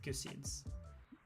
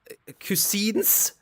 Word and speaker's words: cuisine: Cusins. Cusins. It's cuisine. Say it right. We are not do we are not marrying a cusine. We are we are ordering cuisine.